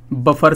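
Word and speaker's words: buffet: भी जाए कहते हैं बफर सिस्टम तो बफर सिस्टम जैसा कोई शब्द होता नहीं है उसके स्थान पर यूज किया जाता है बुफे इसको बुफे पढ़ते हैं जिसमें टी साइलेंट होता है इसी तरह से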